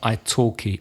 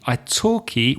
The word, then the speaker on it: italki: about our wonderful sponsor, italki. Italki, well, what is Italki, Reza? Italki is the name of a company with a silent L in the middle.